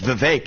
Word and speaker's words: Vivek: I often open up, I say my name is Vivek, it rhymes with cake.